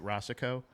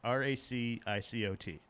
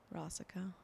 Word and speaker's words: Racicot: I have a silent T in my actual last name. It's a Rossico, and it's oftentimes pronounced. How would you pronounce this? Racicot. Rossico. You shouldn't have said it.